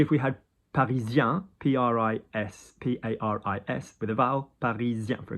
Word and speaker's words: Paris: Paris. Paris. We don't pronounce the S. Yeah, okay. But if we had Parisien, P-R-I-S, P-A-R-I-S, with a vowel, Parisien, for example.